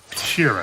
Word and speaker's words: Sheeran: Frank Sheeran. Am I saying that right? Yeah, you said it right.